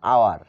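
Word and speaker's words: hour: work he works an আওয়ার এইখানে সে এক ঘন্টা কাজ করে এখানে আওয়ার কি এইচ এইচ এর উচ্চারণ কিসের মত হয়েছে আ যার কারণে এর পূর্বে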